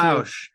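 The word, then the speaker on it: Bossk: I believe it's Bausch, although they never really say it in the movie.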